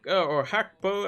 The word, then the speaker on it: Gakpo: I think Hakpo, as it's pronounced, is a decent differential shout.